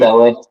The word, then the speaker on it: Yabusele: They're bringing in Yabuzele, if that's how you pronounce his Yeah, name, the French dude. Yabusele.